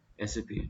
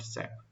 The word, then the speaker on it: SAP: Basically इसकी जो सही प्रोनाउंसिएशन है वो है आपकी SAP, नॉट सैप।